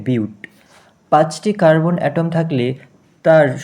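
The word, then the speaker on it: but: থাকলে শব্দমূল হবে বিউট, এটার উচ্চারণটি হচ্ছে বিউট, পাঁচটি কার্বন অ্যাটম থাকলে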